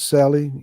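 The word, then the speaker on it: Cely: Um, uh, his wife's name is Sally. You would spell that C E L Y.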